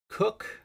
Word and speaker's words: Coke: He was Cook, I think was his last name. Was it Charles Cook? It's spelled Coke.